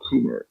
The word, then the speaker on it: Kummer: Well, we We got also a number of people joining us, and Michael Kummer. Is that how you pronounce it, Michael?